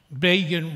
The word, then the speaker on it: Begin: So then again, with my chutzpah, I said, does not explain Begin rhymes with Fagin.